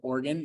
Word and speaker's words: Oregon: it is Oregon um pronounced with just the straight n so organ not we're done um